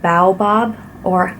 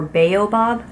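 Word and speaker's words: baobab: of all it's organic Bob or I've heard different pronunciations for this oil I've heard Bob or bobob oil and it's it comes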